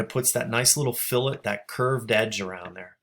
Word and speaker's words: fillet: and you click this that is not fillet like filet mignon or fish fillet or anything like that that's actually pronounced fill it so if you click